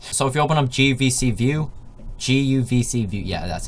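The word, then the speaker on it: guvcview: So if you open up GUVC view, yeah, that's how you say it.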